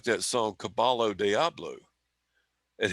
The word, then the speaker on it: Caballo Diablo: really like that song caballo diablo and he goes michael is pronounced caballo diablo i'm like yeah i